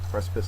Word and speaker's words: precipice: uh word here today precipice is a noun first syllable is accented it is a very steep Cliff or the brink or edge of disaster precipice synonym is ledge and